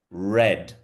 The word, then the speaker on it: read: So the do you remember when we started we had the past tense verb of to read which was it's spelled the same but it sounded red.